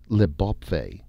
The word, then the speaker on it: Leope: they had called the new land leope or as it was now pronounced liop the beautiful country they